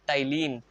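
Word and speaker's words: ptyalin: का नाम क्या है य प टाइलिन प इसका साइलेंट होता है ठीक है क्या कर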